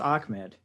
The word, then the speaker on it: Ahmed: I think it's pronounced Ahmed. Is it really? Yeah, that's a thing with that name is it's pronounced like it has a K in it.